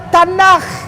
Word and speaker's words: Tanakh: Dibacanya Tanakh.